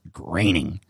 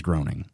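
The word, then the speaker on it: Groening: graining his name is spelt groaning but it's pronounced graining and at some point I'm probably gonna read it as groaning so here's his high school picture here and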